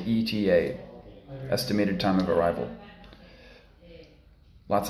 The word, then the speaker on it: ETA: specify specify ETA ETA remember we don't say Etta we say ETA estimated time of arrival